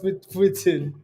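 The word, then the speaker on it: poutine: Hey, it's called Putin. How about it's pronounced?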